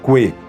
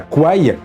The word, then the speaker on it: Kwai: début de la vidéo je me force de prononcer Coué et non pas quoi alors que toute ma vie j'ai bien prononcé le pont sur la rivière Kwaï et bien c'est parce que c'est la véritable prononciation en thaïlandais quoi existe aussi mais